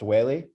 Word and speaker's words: Weili: It's pronounced Weili.